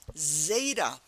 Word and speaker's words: Zeta: the next letter is Zeta Zeta repeat after me Zeta and again it starts with z z Zeta and it has the sound of z z so if you know